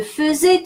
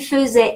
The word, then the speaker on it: faisais: Well, imparfait is going to take the same spelling AI and the pronunciation fe. So it's going to sound like that. Je faisais, tu faisais, il faisait, nous faisions, vous faisiez, il faisait, even though all across the verb is spelled AI.